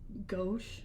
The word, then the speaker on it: Gosch: Um Johnny go Gosh. Go. I've heard it pronounced both ways. I'm going to go with Gosh.